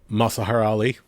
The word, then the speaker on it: Mahershala Ali: How do you pronounce the gentleman's name who's supposed to be playing Blade? Mahershala Ali.